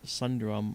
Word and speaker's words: Sundrum: In fact, specifically, if you're interested, Randall Sundrum 1, Randall, spelled like it sounds, and then Sundrum, S-U-N is in November, drum, like ba-da-ba-dum.